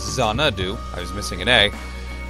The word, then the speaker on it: Xanadu: say this word Xanadu I was close with is on dunno its Xanadu I was missing an egg and yeah I'm